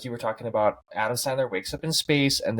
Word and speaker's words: Sandler: big Adam Sanders fan and I like his Adam Sanders said his name wrong Adam Sandler and um I like his really goofy movies